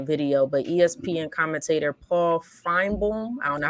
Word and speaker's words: Finebaum: But ESPN commentator Paul Finebaum, I don't know how to say his Finebaum.